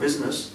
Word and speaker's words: business: business in the word business you comes before I that that means put the other person first and I is silent you don't say Bess you don't the word I is not pronounced So Silent only then